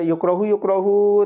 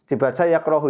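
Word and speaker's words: يكره: Pokoknya setiap sudah biasa itu bacanya ya yukrohu terkebelang, jarang dibaca yakrohu, itu jarang ya.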